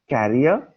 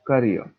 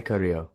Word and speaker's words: career: are your career plans career it is one of the most mispronounced words you will often hear speaking english correctly will help me in my carrier what are your carrier plans a truck or tempo is a carrier that's the reason you